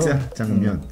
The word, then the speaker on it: 짜장면: 사실 제 발음도 100% 맞는 건 아니에요. 저도 약간 사투리가 깨서. 짜장면.